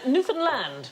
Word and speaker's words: Newfoundland: Newfoundland is the correct pronunciation, and in 1876 a man was killed during a brawl over the correct pronunciation.